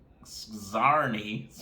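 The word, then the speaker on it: Sczarni: Recently, gangs of Skazarni, I want to say it like that because it sounds like Carney.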